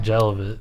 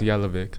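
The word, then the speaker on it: Jelavić: It's called It's Yelvic on Andre Yelic. Unfortunately, I saw somebody uh call call him the jelly man. And it's like you don't even pronounce his name like jelly.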